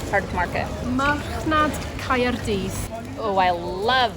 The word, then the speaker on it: Marchnad Caerdydd: Imo, come over here, please, and pronounce that Welsh part that says Cardiff Market. Marchnad Caerdydd.